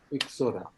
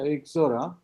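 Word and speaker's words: Ixora: the name how how will you pronounce exora exora you pronounce that exora as per the actually that name originates from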